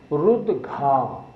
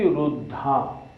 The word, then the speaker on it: रुद्घा: हम सब लोग मोस्टली इसको गलत बोलते हैं। शब्द क्या है? रुद्घा। हम बोलते हैं वृष्टि रुद्धा। रुद्धा नहीं बोलना, इसको रुद्घा बोलना है।